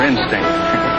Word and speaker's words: instinct: It's just his mother instinct. Instinct is right, with the accent on the last syllable.